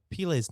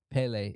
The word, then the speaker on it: Pelé: So I also didn't know I was saying Pele's name wrong my whole life.